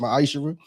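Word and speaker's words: ma'aser: of Malachi 3 8-10 means 10th in Hebrew and it's pronounced myisher 10% of every penny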